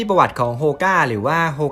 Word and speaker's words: Hoka: วัน ที่ ประวัติ ของ โฮก้า หรือ ว่า โฮ 9 วัน ๆ ของ ใคร หลาย ๆ คน นะ ครับ จริง ๆ แล้ว อ้ะ มัน ออก เสียง ว่า โฮก้า โอน ให้ โอเล่ ครับ มัน มี ต้น